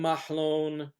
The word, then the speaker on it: Mahlon: of con consistency but we'll call him Mahon from now on because that is the name that he would answer to Mahon andon obviously rhyme with each other I don't think there